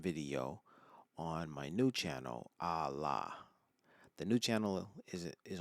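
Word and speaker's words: ALA: My most recent video on my new channel, Allah. The new channel is is on YouTube. It's entitled Allah. Um Allah is an acronym. It's spelled A L A.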